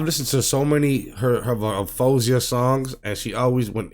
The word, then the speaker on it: Faouzia: doing her reactions but it's fozia because I heard her say herself her name hi I'm fozia so I don't want